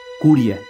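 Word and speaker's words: クリア: al conjuro que recibió curia que es cómo se pronuncia fonéticamente la palabra clear en japonés además la existencia de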